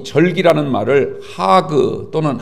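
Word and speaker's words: חג: 여러분들, 이 히브리 말로 이 절기라는 말을 하그 또는 하가그라 이렇게 발음합니다.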